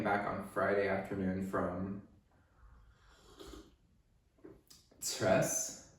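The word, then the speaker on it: Cres: It's a Sunday afternoon, and I came back on Friday afternoon from Tres, C-R-E-S. Kind of a difficult place name to pronounce for a non-Croatian speaker, Tres.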